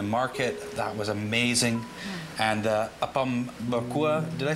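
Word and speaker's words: Apam Berkuah: And Apom Berkua, did I say that right? That's right. Fantastic. I got the pronunciation down.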